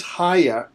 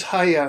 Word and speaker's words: HAIAH: new project and by the way what does haa I it's rhymes with GAA what does haa stand for it's an acronym it stands for